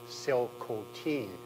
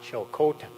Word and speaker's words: Tsilhqot’in: it down for me phonetically that the correct pronunciation is actually Sil coine not CH Cen um and just on this I should tell